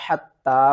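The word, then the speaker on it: حتى: حا تا زبر حتی، مد کھڑا زبر تا، حتی. یہاں پر تا کو ہم نے 2 بار پڑھنا ہے اور تا کے اوپر سختی کرنی ہے اور تا کو ایک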